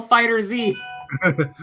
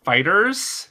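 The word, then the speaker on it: FighterZ: and why is it Dragon Ball fighter Z first of all it's pronounced fighters yeah I know yes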